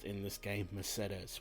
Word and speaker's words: Mercedes: Don't try to correct me, it is actually pronounced in this game Mercedes, which is actually close to the original Spanish pronunciation.